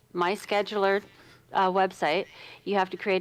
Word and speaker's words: MySchedulr: I wanted to pronounce it different because schedule's spelt wrong, but it is MySchedulr.